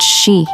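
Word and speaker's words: 四: It's only 444 meters long, but legends say that number is no coincidence, because in Japanese numerology, 4 is pronounced shi, the same as the word for death.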